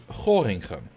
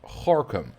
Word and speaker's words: Gorinchem: No, I found out yesterday it's pronounced Gorkum. Apparently. Which makes zero sense. Well, why is that pronounced Gorkum? There's an I in there. Like, that's not how Dutch works.